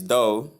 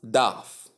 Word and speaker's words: dough: So not daf or da or door as many people may pronounce it. The right pronunciation is simply though.